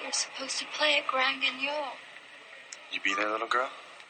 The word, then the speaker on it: Grand Guignol: Tomorrow night you're supposed to play at Grand Guignol.